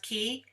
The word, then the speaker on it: quay: I had And tripped pull, over this word because I say quay, but I know it can be pronounced key, right? yeah, Meet yeah, you at the key.